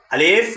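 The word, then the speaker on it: عَلَى: হচ্ছে অতিরিক্ত হরফ আর অতিরিক্ত হরফগুলো শুধু লেখার ক্ষেত্রে ব্যবহৃত হয় কিন্তু পড়ার ক্ষেত্রে ব্যবহৃত হয় না তাহলে উচ্চারণটা কেমন হবে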